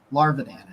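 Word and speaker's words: Gage Larvadan: Larvadan is how you say it. Kind of sounds like a Pokemon, honestly. Yeah. Larvadan.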